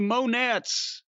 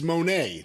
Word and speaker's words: Monet: van goghs and the monettes you always say his name it's monet that's not funny that's the way you say it well monet monet james